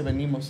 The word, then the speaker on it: vinimos: grabar vinimos o venimos mira se escribe vinimos pero se dice venimos Es raro nuestro idioma